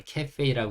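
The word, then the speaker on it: cafe: 이루어질 수 있는데 어 사실 영어에서는 이걸 또 카페라고 읽지 않고 카페라고 읽거든요 그러니까 한글 한국어 발음과 영어 발음이 약간 차이가 있어서 그냥 그렇게 읽혀진다라고 이해하시고 어 이게 한국어로 읽으면 카페라고 읽을 수 있지만 영어를 쓰는 원어민들은 이걸 캐페이라고 읽는구나 그냥 그렇게 간편하게 심플하게 생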